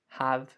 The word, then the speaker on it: have: never say, he would have given me $5 if I'd done 50 push-ups. No, okay? This have is not stressed. So we don't say this H here, okay? We say it like an of.